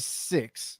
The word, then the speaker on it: Sicks: Wyatt six. And I like the way that they say six because they spell it SICKS with the six at the end.